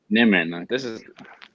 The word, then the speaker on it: Nimmin: Yeah, it is Nimmin. It's Nimmin.